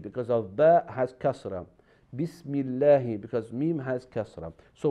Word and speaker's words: Bismillahi: So in this case, we pronounce like we have a smile, Bismillahi.